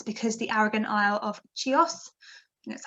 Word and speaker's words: Chios: charcoal is it's because the arrogant isle of chios that's how you say it um so that's